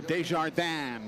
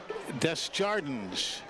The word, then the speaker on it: Desjardins: It looks like it would be pronounced the French way, Desjardins, but it is not. It is Lucas Desjardins.